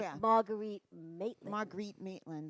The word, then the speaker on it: Marguerite: they'll say They- Margaret, right? They'll say Mar- Margaret a lot, but it's okay.